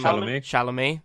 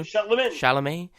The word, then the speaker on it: Chalamet: Chalamet. Thank you. Chalamet.